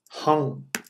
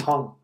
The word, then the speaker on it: ham: The seed sound hung. It looks like hang, but it's pronounced hung.